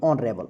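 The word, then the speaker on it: honorable: इसको क्या पढ़ते हैं, ऑनरेबल पढ़ते हैं, ठीक है ना। तो उच्चारण क्या आ रहा है, ऑनरेबल, ठीक है। तो यहाँ पे क्या लगाएंगे, एन लगाएंगे क्योंकि एस साइलेंट होता है।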